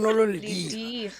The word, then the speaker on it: Lediga: You pronounce Lediga.